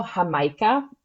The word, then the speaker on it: Jamaica: next stop which is the Mercado hamaica which is spelled like Jamaica it translates to habiscus